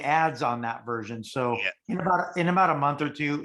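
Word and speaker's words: 爱: top love is i it's pronounced i as in or i me um a i a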